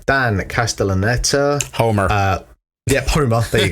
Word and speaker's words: Castellaneta: One thing I didn't realize, this quick bit of narration at the start is voiced by Dan Castellan. I can't say his name. Dan Castellaneta.